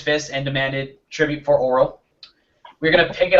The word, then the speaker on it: Auril: Sorry, Auril. A-U-R-I-L. That's some very important pronunciation. Auril. Auril.